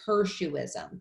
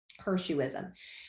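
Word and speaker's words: hirsutism: syndrome is characterized by everybody say her xu ism that's how you pronounce that word there her shoe ism which is excessive body and facial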